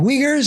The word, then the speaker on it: Uyghurs: they were invaded and now the the uh uyghurs is how you pronounce the people yeah maybe genocide of some